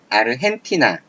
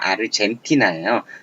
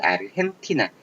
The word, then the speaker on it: 아르헨티나: 자, 이런 걸로 몇 가지 있는데 이제 아르헨티나, 자, 영어 보시면 아르젠티나예요. 하지만 이거는 멕시코 쪽, 스페인 쪽 발음에서 아르헨티나 이런 식으로 발음한다는 거죠.